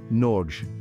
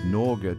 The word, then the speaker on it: Norge: no and the air the e at the end is pronounced similarly to the e in bed imagine yourself standing amidst